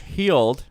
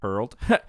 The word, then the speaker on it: Heald: Creators Josh Heald, not Hurled.